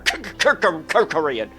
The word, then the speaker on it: Kerkorian: Kerkorian. Kerkorian. You Okay. just say his name really fast, and it's I like just, it sounds like a stutter. Kerkorian.